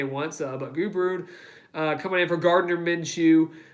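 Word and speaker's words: Gubrud: his name is gage goo brood I believe I'm pronouncing that last name correctly it's not good or SS herself somebody say once but goo brood coming in for Gardner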